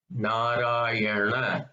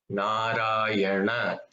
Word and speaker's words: Narayana: The second na, which in English is written as N with a dot underneath and an A, and in Tamil we say it's a Munushree na. It's like Narayana. So you have to again fold your tongue a little bit towards the back to say it.